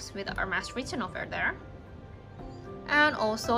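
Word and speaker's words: Hermès: It's Hermes. Thank you for correcting. We don't really know how to pronounce because it's French word. We're not a French. It's Hermes.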